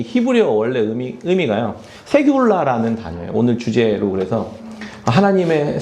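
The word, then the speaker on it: סגולה: 세귤라라는 단어예요. 오늘 주제로 그래서 하나님의 세귤라라는 이렇게 이름 붙였는데 좀 어렵죠? 세귤라 원래 이렇게 발음하는 거예요.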